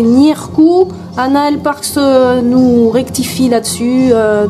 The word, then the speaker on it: Ǧírkù: On prononce Nieu, le G, hein, le G avec un circonflexe à l'envers, c'est Nirku.